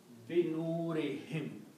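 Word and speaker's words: بنورهم: So this is also pronounced as him. So the word becomes binurihim, of their light.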